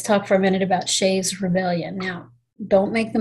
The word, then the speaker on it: Shays: his last name is shays s-h-a-y-s not shea so that that is spelled correctly with the apostrophe i didn't just put the apostrophe in the wrong place because his last name was shays i always thought his